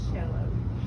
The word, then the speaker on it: cello: So, I don't know why it's spelled that way, but if you pronounce it cello, so it's a sixune.